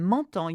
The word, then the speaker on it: m'entends: When you have en together, it's a en sound. So in m'entends, you have it twice.